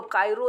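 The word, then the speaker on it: Cairo: और फिर देखिए, आप अंग्रेजी में इसको प्रोनाउंसिएशन कीजिएगा तो कायरो निकलेगा, बट इसको हिंदी में काहिरा बोलते हैं, इसीलिए आपको यहाँ पे स्पेशली लिख दिया गया है काहिरा।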